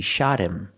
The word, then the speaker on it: shot him: You hear the pronunciation? He shot him. He shot him. The T in shot is between vowels, so it changes to a fast D.